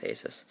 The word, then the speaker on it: Asus: So I got 2 Asus monitors, or Asus, however you want to pronounce it, but it's Asus.